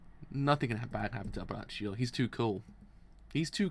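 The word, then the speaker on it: Abbacchio: I actually said Abricio. It's actually Abraccio. I was like, yeah, now looking at it, it's actually an A, not an I.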